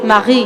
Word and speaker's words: Marie: De hecho, su nombre se pronuncia Marie. Marie. Ah, Marie. Marie. Just like Maria, but no A at the end.